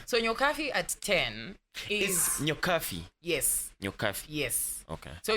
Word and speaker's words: Nyokabi: So Nyokabi at 10 is Nyokabi. Yes. Nyokabi. Yes. Okay. So you pronounce it as an F, but it's written as a B.